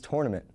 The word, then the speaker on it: tournament: probably figure out is tournament no not tournament tournament around this time of year I hear people all around me pronounce this word incorrectly if it was tournament there wouldn't be the letter O right now it feels